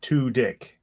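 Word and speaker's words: Tudyk: Um on an IMDb they actually wrote here his last name is pronounced to dick. T o slash d i c k. That is sexy. Tick.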